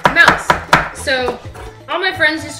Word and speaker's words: Moos: in German are called Mouse and don't be scared it's not actually with Mouse in it it's actually spelled m-o-o-s and it's pronounced Mouse so all my friends